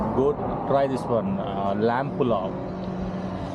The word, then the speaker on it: pulao: pulao. Pulao. Pulao. How do you spell it?